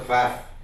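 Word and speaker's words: Pfaff: do history but professor fat I hope I got your name right my special assistant learn German in Frankfurt and she said it's fact that the silent P so it was wonderful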